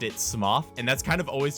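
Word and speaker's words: Smough: you guys really want please learn how to pronounce smoke and man i swear to god half my comments are just people making fun of me saying smuff smuff okay i get it it's it's pronounced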